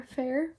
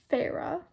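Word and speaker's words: Feyre: video I called her Fair because that's what that's that's what the spelling looks like that's what it looks like to me it looks like Fair okay but it's pronounced Farah I know that now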